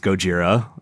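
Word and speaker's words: ゴジラ: it most likely because in japanese it's gojira and not godzilla i don't know about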